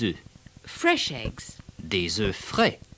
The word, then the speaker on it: œufs: The pronunciation changes in the plural. It's un œuf, but deux œufs, trois œufs, and so on.